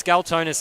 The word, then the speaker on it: Scalzonis: Just it's first name basis if that's all you can pronounce. But it's Scalzonis there on the outside.